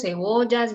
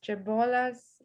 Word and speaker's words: cebollas: Double L, you can pronounce like Y or like E. Cebollas and ella.